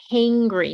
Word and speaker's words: hangry: is called feeling hangry hangry not hungry so make sure to open that mouth feeling hangry okay I'm